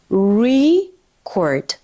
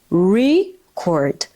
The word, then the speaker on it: record: So here is the noun record. Record and the verb is record. Record. Did you see how much is the pronunciation important right here? Because if you say record, it is a noun. But if you say record, it is a verb.